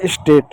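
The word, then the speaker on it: state: ए है। ए के बाद कंसोनेंट है। कंसोनेंट इ है। तो ए का उच्चारण ए की मात्रा के रूप में। टी का साउंड क्या होगा? ट होगा। इ क्या होगा? इ साइलेंट हो गया। तो हो गया स्टेट।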